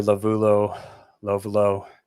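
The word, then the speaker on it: Lovullo: just the way Tori Lovulo, how do you say? I never know how to say his name. Tori Lovulo, right? Lovulo, you had it right.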